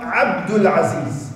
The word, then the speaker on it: Abdul Aziz: But to pronounce it in the Arabic language, when you actually make it a compound name, it becomes Abdul Samad, Abdul Aziz.